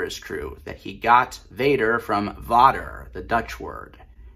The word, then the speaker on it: vader: even though the Dutch word for father is pronounced Vader and not Vader.